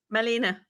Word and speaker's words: Malene: Marlene how do you say your first name Melina Molina yeah can I spell it right m-a-l-e-n-e yes okay so Molina you